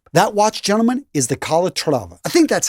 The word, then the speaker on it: Calatrava: That watch, gentlemen, is the Calatrava. I think that's how you pronounce it.